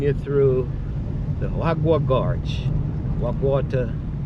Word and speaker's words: Wag Water: Wagu water as the locals say.